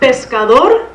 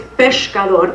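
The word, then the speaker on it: peshkador: Now, with pronunciation, it's not pescador, it's pescador. There's a sh sound in 15th century Spanish.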